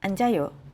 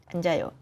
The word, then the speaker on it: 앉아요: res the second conslants of you 저는 바닥에 앉아요 저는 바닥에 앉아요 저는 바닥에 앉아요 저는 바닥에 앉아요 저는 바닥에 앉아요 저는 바닥에 앉아요 안 자요 리을 기웃 저는 책을 읽어요 so here 리을